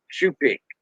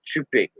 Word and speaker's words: choupique: Shoe pick. CHOUPIQUE. That's how we spell it. Shoe pick. Shoe pick. Yeah, shoe pick. Like your shoe that you wear. Shoe. A pair of shoes.